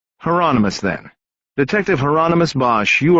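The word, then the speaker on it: Hieronymus: throat detective hi Heron is that heronimus Bosch said rhymes with Anonymous heronimus then detective heronimus Bosch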